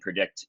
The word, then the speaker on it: PredIQt: is the homepage so if you go to predict ever pedia org it's spelled p r e g IQ t and